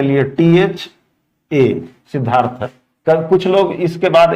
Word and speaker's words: सिद्धार्थ: तो सिद्धार्थ में देखने में ध आधा द पूरा है बट उच्चारण में द आधा ध पूरा है। सिद्धार्थ, द को आधा कर दिया ध ने और ध पूरा हो गया।